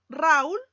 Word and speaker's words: Raúl: distinta fíjate en la en la palabra raúl yo pronuncio raúl jamás pronunciamos raúl y te das cuenta que la vocal o que es una vocal cerrada está acentuada y aplicamos esta regla por lo tanto raúl tiene dos sílabas ra cool la palabra